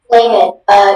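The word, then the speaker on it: flehmen: Flamen. Can I... This word is a homonym. Yeah, this word is a homonym, so I'll give you all the information. The word's only pronunciation is flamen.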